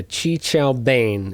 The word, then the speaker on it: qi qiao ban: Chi Chao Bin. Yeah, Qi Qiao Bane is the correct pronunciation according to Google at the very least.